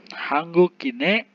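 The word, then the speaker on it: 한국인의: Ini bukan ei dibacanya tetapi e ya. Ei di sini artinya kepemilikan. Hanggukine orang Korea.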